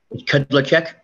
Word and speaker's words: Kudlacek: Before we get too far in depth, is it Kudlak? How do you say your name, sir? Kudlacek. Kudlacek.